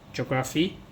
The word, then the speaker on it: geography: So remember the PH sometimes pronounced as F, so geography.